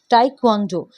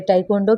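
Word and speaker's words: taekwondo: Okay, तीन तरीके से हम इसे प्रोनाउंसिएशन करेंगे, तीन पार्ट्स में। टाइक्वांडो, तो ये जो है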